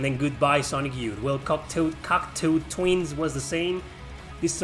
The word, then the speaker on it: Cocteau Twins: I think it's pronounced Cocteau Twins.